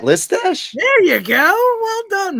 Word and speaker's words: Listache: Rhymes with Matt Mustache. Matt Mustache. What? Pat Listache?